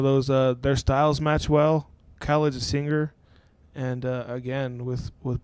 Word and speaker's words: Khaled: Khaled, yeah. More of Khaled's mainstream these days. He's blown up already. Taken off. He's taken off, and that's just another one of those. Their styles match well. Khaled's a singer, and again with Black having the